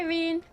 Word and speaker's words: Rene: promise goodbye everyone goodbye Rene rhymes with green I'm a little relieved